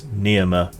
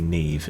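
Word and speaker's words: Niamh: Yeah, I Yeah, it's meant to be pronounced Slier. And Nema is actually Neve, isn't it?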